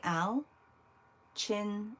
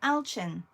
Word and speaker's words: Alchin: Alkin says, Shar, it's pronounced Al, the man. Like Al? Chin. Oh, Alchin. Okay, Alchin.